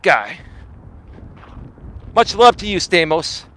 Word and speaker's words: Stamos: Much love to you, Stamos. It's actually Stamos, but the Americans can't pronounce, the Greek pronunciation, so we Americanize it like Stamos, right?